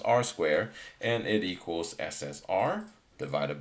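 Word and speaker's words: R²: coefficient of determination so simply r square is pronounced r squared and it equals ssr divided by sst okay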